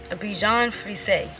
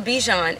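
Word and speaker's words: Bichon Frise: of all he's a Bijon so Bichon frize that's how you say it I think but he's a Bichon and you're not supposed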